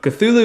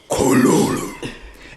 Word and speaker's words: Cthulhu: And then side note, Cthulhu is pronounced Cthulhu. It's just a sound, right? That's the point. It's meant to, like, that the jarble of letters is meant to make you reach for this, like, glottal, like...